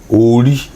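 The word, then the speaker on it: Orí: How do you pronounce it? Ori.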